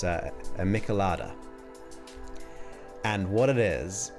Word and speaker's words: michelada: I'm gonna probably pronounce it wrong, but it's a michelada.